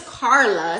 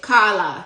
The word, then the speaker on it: Carla: My name is Carla, Carla, but in Patois, they pronounce it Kala, Kala.